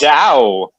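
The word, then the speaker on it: João: And his name, and I had a feeling he was Portuguese because his name was J-O-A-O. So it's that string of letters that's impossible for an American to pronounce. Zhao. Yeah, Zhao.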